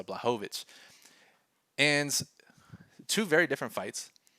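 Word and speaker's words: Błachowicz: adasanya and costa and also it's blahovich make sure i get his name right i've been working on my pronunciations in these videos so blahovich and two very different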